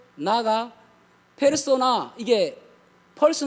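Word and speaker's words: persona: 겁니까 그냥 바른대로 왜 일검은 되요 그니까 펄스를 발음대로 읽으며 는 폐로 쏘 나아가 페르소나 이게 벌써 네 에 펄스 4단 퍼스 라는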